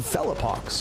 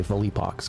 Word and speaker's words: Felipox: And a great round from Felipox or Fippox depending on how you say it. His name is Philip. So we say Felippox cuz we're cool like that.